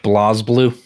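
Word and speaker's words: BlazBlue: It's pronounced Blaze Blue.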